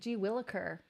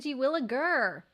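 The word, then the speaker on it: gee willikers: the name Karen okay say G williker G williker I've been saying G williger Drew bringing shedding some light on this I I've been saying it wrong my whole life uh secretly gamer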